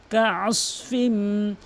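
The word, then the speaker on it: كعصف: ফাজআলাহুম ফাজআলাহুম কাআসফিম, কাআস, এখানে অধিকাংশ লোক তিনটি ভুল করে। এক নম্বর হচ্ছে আইনের জায়গায় হামজান উচ্চারণ করে আস বলে, আর একটা সৎকে সিনের উচ্চারণ করে ফেলে আস, আস এভাবে বলে, আস বলতে হবে আস, আস, আস।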